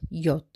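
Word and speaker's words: יוד: This section of 8 verses commences with the 10th letter of the Hebrew alphabet, which is pronounced Yod.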